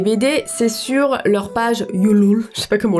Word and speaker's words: Ulule: Et le seul moyen de se procurer les BD, c'est sur leur page Ulule. Je sais pas comment on le prononce. On le prononce Ulule, connasse.